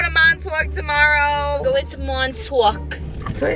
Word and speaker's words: Montauk: Go into Montauk.